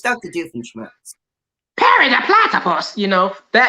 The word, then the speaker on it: Doofenshmirtz: Doofenshmirtz.